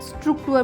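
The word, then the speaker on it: Struktur: नाउ स्ट्रक्चर को German में स्ट्रुक्टुर बोलते हैं।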